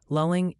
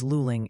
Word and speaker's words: Luling: Lulling is luling.